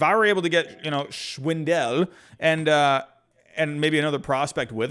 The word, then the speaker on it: Schwindel: So it's Schwindel. Never actually saw, hey, the pronunciations, if I don't hear it, I just see it and I say it.